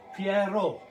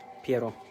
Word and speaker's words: Piero: Because the name is spelled like Pierre. Because I knew a guy called Pierre. No. His name was Piero. Piero.